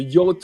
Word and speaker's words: yacht: Y I don't know why we pronounce it that way. I mean, it has a whole bunch of letters that don't sound like that, but Yeah.